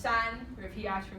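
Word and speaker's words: 山: we were using to this day and it's pronounced son what if he ox for me yeah and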